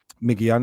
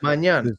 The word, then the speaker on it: Maignan: So what Manan that one man sorry I pronounced his name wrong. Mike Mike Manan, Mike Manan, AC Milan keeper.